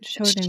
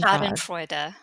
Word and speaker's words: Schadenfreude: Schadenfreude. Schadenfreude, I think.